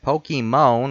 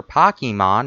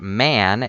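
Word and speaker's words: Pokémon: of Pokemon fans but you could have pronounced it pokemons or Pocky Mon and the joke still would have worked when you read the letters M o N and pronounce it man it doesn't make you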